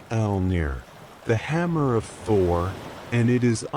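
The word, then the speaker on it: Mjölnir: This is Mjolnir, pronounced roughly Elnir, the hammer of Thor,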